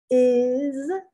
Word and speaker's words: is: Is, first place, the S is pronounced like a Z.